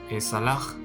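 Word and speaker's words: אסלח: Y aquí la pronunciación es como salaj, que significa seré perdonado tanto para el masculino y femenino.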